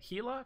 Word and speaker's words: Gila: prefer to call it gila because i actually live in arizona and there are actually creatures called gila monsters i remember actually doing